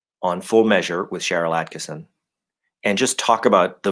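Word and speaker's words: Attkisson: show, I was saying Atkinson. It sounded like I got her name wrong. It's not Atkinson, it's Atkinson. No N in there. In the middle.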